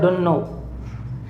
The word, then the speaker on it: dunno: तो इसका जो उच्चारण होगा वो होगा डुन्नो।